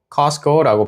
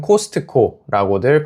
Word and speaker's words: Costco: 한 번은 미국에서 엄마랑 저랑 커스코를 가게 됐는데 참고로 영어로는 Costco라고 발음하지만 한국에서는 코스트코라고들 발음해요.